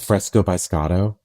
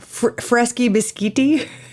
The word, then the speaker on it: Fresco by Scotto: at a restaurant called Fresco by scato no not fresky bisti no Fresco can you spell it